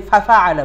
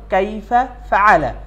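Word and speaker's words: كَيْفَ فَعَلَ: তার কাইফালাফালা আমরা অনেকেই কাইফা শব্দ আলাদা আর ফালা শব্দটি আলাদা কিন্তু আমরা অনেক সময় কাইফা এবং ফালা দুইটি একসাথে মিলিয়ে ফেলি দিয়ে ফাফালা বলি কিন্তু আসলে হবে হল কাইফা ফালা এলাম তার কাইফালা রব্বুকা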